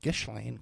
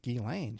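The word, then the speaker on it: Ghislaine: Everyone pronounced it gishlane because of the spelling. But she knew how to pronounce it Gilane.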